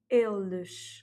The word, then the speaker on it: eles: Au pluriel, il au pluriel se dit eles, et donc le S à la fin se prononce ch ou z si il est suivi d'une voyelle.